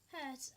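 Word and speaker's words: Hertz: by the way frequency is Meed by Herz pronounce h Herz and written with h z what so higher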